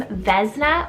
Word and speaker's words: Vesna: Next up here on the girl side, I have the name Vesna or Vesna, spelled V-E-S-N-A. I believe you probably can pronounce it different ways depending on where you live in the world, but it's a Slavic